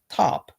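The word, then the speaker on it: TOHP: This created T.O.H.P, the Oral History Project, which is pronounced Top, which happened to be the phonetic pronunciation of the Algonkian word for friend.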